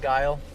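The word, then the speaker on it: Geil: it's g e i l but but it's pronounced kind of like that though huh like guile 443 arrives ending mile good 61 020.0 uh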